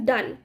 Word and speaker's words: Donne: Okay, the spelling goes like DONNE एंड इट is pronounced as डन। डोनी नहीं बोलेंगे इसको, John डोनी नहीं है, जॉन डोन भी नहीं है, इट is John डन। Okay, so while we are speaking in English, pronunciation plays a vital role. So please focus upon what you pronounce. So it is John Donne.